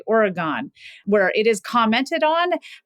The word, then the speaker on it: Oregon: or think about the Oregon Oregon pronunciation so if you're from Oregon it's Oregon but if you're not from Oregon you sometimes say Oregon where it is commented